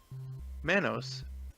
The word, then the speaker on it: Manos: a little more trivia Manos rhymes with Thanos and when Maya the